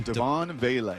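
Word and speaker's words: Devaughn Vele: The Broncos sent Do you know how to pronounce this guy's name? Devon Vele.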